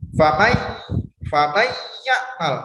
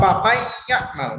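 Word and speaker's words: فمن يعمل: Nah, itu sini sudah terasa ya, di sini sudah terasa famai ya'mal. Nah, beda halnya kalau misalnya bacanya seperti ini. Paman ya'mal masih bisa. Tapi kalau papai ya'mal, nah itu tidak bisa.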